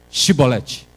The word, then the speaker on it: Shibolete: vamos fazer o seguinte, os efraimitas não conseguem pronunciar a palavra Shi. Não, não, você não é. Então fala Shibolete.